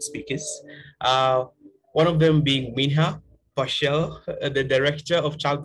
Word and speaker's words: Minja: I'm fine with any pronunciation. It's Minha, but it's anything is fine.